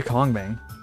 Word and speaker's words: Kongming: Why do I pronounce it like conch? Because that's the American pronunciation. Also because it makes people giggle.